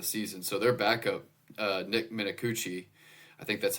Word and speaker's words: Minicucci: I'm not gonna lie, I had to go to their pronunciation guide to get this, and you are correct. It's Minicucci.